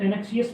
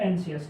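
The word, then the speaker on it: anxious: कैसे, ये है हमारे सामने वर्ड है, अब इसको कुछ लोग एनएक्सियस पढ़ते हैं, कुछ लोग एनसीएस, ठीक है। मैं इसको एनसीएस प्रोनाउंस करता हूँ, ठीक है, तो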